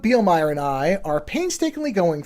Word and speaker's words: Bielmeier: Douglas Bealer and I are wait I mispronounced that wait that Dr. Dr. Doug Beielmire and I are painstakingly going through two episodes per part.